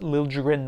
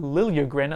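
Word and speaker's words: Liljegren: jrin who by the way it is apparently pronounced Lil jrin not Lili grin at least according to him and I would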